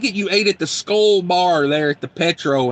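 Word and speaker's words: Skol: If you're on the road and you want like a good sit-down meal, that Petro in Albert Lee, the Skull Bar, it's spelled S-K-O-L, Skull.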